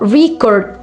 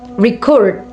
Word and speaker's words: record: For example, the word uh record can be a noun uh record or a verb record.